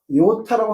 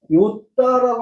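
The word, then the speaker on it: ιώτα: 무슨 얘기냐면 엘라로 이오타라고 합니다. 이것은 에라스무스식 발음이에요. 에라스무스식 발음. 근데 실제 그리스식 발음은 요따라고 합니다. 요따.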